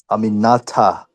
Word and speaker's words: Aminata: I love Aminata. You say her name right. Aminata.